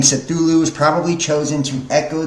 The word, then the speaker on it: Cthulhu: Lovecraft transcribed the pronunciation Cthulhu as Cthulhu and said the first syllable pronounced gutturally and a very thickly. So like Cthulhu, right?